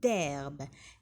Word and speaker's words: herbe: chaque jour il avale 200 kilos d'herbe. هنا d'herbe le H c'est une lettre muette كي يجي في الأول الكلمة. إذن لا ننطقه كأنها غير موجودة. d'herbe.